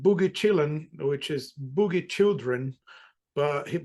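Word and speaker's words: Chillin': a song called Boogie Chillin which is Boogie children but because uh apparently J hook pronounced that word when he was young he used to say chilling something like chill CH instead of children so the song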